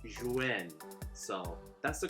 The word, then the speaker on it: Zhiyun: So starting off with the pros, the Crane V2, a little context, it's not Zhiyun, it's Zhiyun. So that's the correct pronunciation, so I'm gonna go with that.